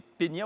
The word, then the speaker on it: peñas: On va parler des peñas ou des peñas, comment ça se prononce? Peñas.